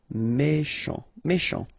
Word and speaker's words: méchant: Final T not pronounced. CH together, sh. Méchant.